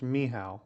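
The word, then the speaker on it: Michał: death touch just reach in Polish it's pronounced mihow but Michael is fine mihow now I'll call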